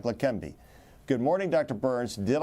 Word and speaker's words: Leqembi: He's got a national and international reputation, and he has spent decades researching drugs like Leqembi. Good morning, Dr. Burns. Did I pronounce it correctly? Yes, Leqembi.